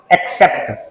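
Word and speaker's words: accept: pronounce करते हैं तो पहला सी जाता है के की तरह अगला सी जाता है एस की तरह क्या बोल दिया एक्सेप्ट हिंदी में अर्थ होता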